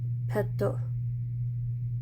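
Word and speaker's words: ペット: the other two and then in romaji Peto and we have two T's and that also is important and that's what that character means also this character is letting us know that there are two T's in here so I flipped my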